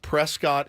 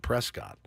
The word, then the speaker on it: Prescott: it h like uh like Prescott Arizona is not Prescott it's Prescot Nevada is not Nevada